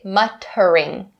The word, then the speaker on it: muttering: here so muttering muttering even though it is spelled with the Double T we don't say muttering muttering no we say muttering muttering now the last